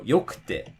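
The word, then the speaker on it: 良くて: For example, if you wanted to say like yokute, takakute, mijikakute, again, the drop is going to be before the ku. So yokute, takakute, mijikakute.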